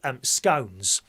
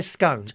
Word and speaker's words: scones: have the last two scones. Pardon? No, they're scones, not scones. Scones, dear. Scones. Pay full attention. Scones, that's how you say it.